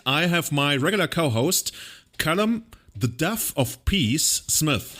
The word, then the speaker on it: Callum: name is Caleb no it's not really it's Callum which is a very commonly mispronounced name which Julian was calling me for